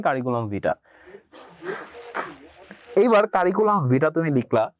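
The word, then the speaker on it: curriculum vitae: এখানে ভিটার ই যে এটা হচ্ছে ই সাউন্ডটা হচ্ছে হিডেন, কিন্তু লেখার সময় ই থাকবে, ঠিক আছে। কারিকুলাম ভিটা, এটার প্রোনাউন্সিয়েশন হবে কারিকুলাম ভিটা।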